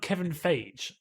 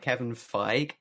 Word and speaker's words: Kevin Feige: some people pronounce it kevin feig okay and some people pronounce it kevin feige fair enough um so i just say kevin figgy it smell like beige so maybe all right um